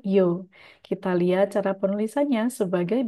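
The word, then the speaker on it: 曜: Kanji ini tidak memiliki kunyomi, dia hanya memiliki onyomi saja dibaca yo. Kita lihat cara penulisannya sebagai berikut. Kita harus bikin bagian kiri, lalu bagian atas. Ini seperti katakana yo ya, baru bagian bawahnya.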